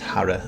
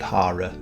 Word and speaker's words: Hara: I do believe it's pronounced Hara and not Hara, like I tend to pronounce it.